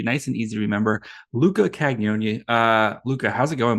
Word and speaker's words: Cagnoni: a why after the first and it's like kanyoni it's a little weird one yeah okay so